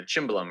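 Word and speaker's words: cimbalom: its uh big brother the chimblum or the symbol depending on how you prefer to pronounce that uh but it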